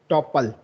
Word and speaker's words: tuple: Some pronounce it as true as it were spelled topple, rhyming with the mod the hopple, and others the it was spelled tuple, rhyming with supple.